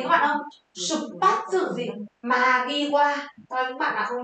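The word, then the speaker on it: 間際: Đây là ngay trước xuất phát và từ này đọc là Magiwa.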